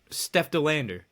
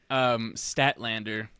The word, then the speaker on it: Statlander: Steph DeLander. Oh, That would be cool. that would be cool. What did I say? Statlander.